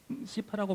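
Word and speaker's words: CIFAR: 원래 시파라고 부르는데 발음이 안 좋으니까 사이파라고 할게요.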